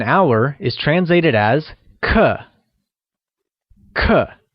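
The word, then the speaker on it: 刻: is translated as cut cut is pronounced using a falling tone let's hear you say CUH CUH great here's a grammar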